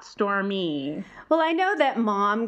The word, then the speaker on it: Stormi: but I just always want to pronounce it or store my not store me well I know that